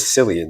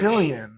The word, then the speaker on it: Cillian: I forget how you're actually supposed to say his name because that's not the correct way either. Killian Murphy. I think it's Killian. Killian. I think it's Murphy. Killian. Yeah, it is.